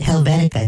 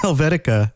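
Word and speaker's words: Helvetia: should definitely go visit helbenica because that's that's that's not pronounced helvetica that's bodybot that's not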